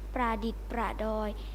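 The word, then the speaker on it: ประดิษฐ์ประดอย: วัน นี้ ขอ เสนอ คำ ว่า ประดิษฐ์ ประดอย ประดิด ประดอย อ่าน ว่า ประดิษฐ์ ประดอย หมาย ถึง บรรจง ทำ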